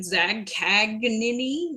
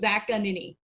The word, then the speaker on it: Zaccagnini: They they either overpronounce the G like Zag Kagani like Siri. That's how Siri does it. Zag Kagini.